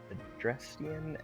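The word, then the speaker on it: Adrestian: We've got our fire type here with Edelgard, a house for students of the Adrestrian Empire.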